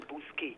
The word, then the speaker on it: Bousquet: Yeah, it's spelled like Bousquet because it's French. He's from St. Lucia, innit? Mm-hmm. Yes. So we know older media workers used to just call him Bousquet, but that's how his name is pronounced, Earl Bousquet.